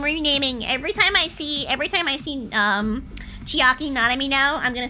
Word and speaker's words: Chiaki Nanami: Chiaki Nanami rhymes with chicken jockey.